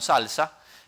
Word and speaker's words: SLSA: Eh, esta otra que SLSA se pronuncia como salsa eh lo que nos